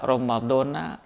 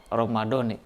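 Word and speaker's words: رمضان: Ada dua cara baca pada lafaz Ramadan. Sebetulnya bisa dibaca Ramadana, kemudian yang kedua bisa dibaca Ramadoni.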